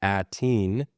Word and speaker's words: Aten: In Mandoa, Aten, pronounced roughly Ateen, carries meaning related to stubbornness, persistence, or enduring determination, often translated as persistent or stubborn.